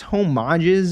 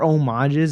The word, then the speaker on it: homages: Anyways, though, again, yeah, no, I've been seeing a lot of, I guess, homages or homages. I'm pretty sure the H is silent on that.